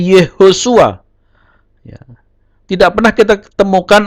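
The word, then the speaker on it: יהושע: Tidak Yahusua, tapi Yehosua.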